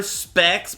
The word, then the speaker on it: Pex: Specs, but it's spelled like Pex.